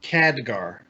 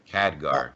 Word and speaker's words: Khadgar: Come on, Kagdar. How do you pronounce it? Is it Kagdar or Khadgar? I don't even know. Khadgar. Khadgar, okay.